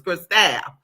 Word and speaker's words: Cristal: He's like, your name ain't Crystal, it's Cristal. The way it's spelled.